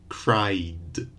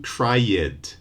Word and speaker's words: cried: the diphthong cry so we just add the cried no extra vowed we don't do cry yet just cried okay so another example would